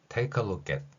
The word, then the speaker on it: take a look at: 이렇게 발음이 끝나겠지만 뒤에 AT, at 이렇게 연결될 때는 그 키읔이 뒤에 소리하고 연결되어서 이렇게 표현된다는 것입니다. cat, take a look at 이렇게 발음을 하는 것이죠.